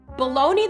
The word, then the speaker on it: bologna: or nonsensical here's a fun fact baloney the sausage is always spelled b o l o g n a but when you use the term baloney in reference to something that is hogwash you spell it b a l o n e y